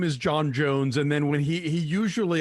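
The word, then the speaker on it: J'onn J'onzz: His real name is John Jones. So, right, but it's spelled like J apostrophe O N J apostrophe O N Z Z.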